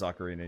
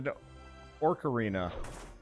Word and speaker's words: ocarina: got an ocarina ocarina ocarina yeah it is ocarina you're right I got an ocarina when I